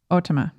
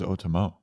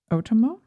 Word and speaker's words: Otomo: based on otome katsuhiro's i thought it was otomo otomo ends with an o oh yeah rhymes with kokomo we're down with autumnal